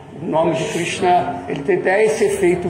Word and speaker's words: Krishna: Quando você pronuncia o ri, a língua não vai lá para trás?